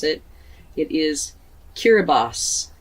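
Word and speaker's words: Kiribati: to look it up to see how to pronounce it it is kiribos kiribos so if you know anything at all about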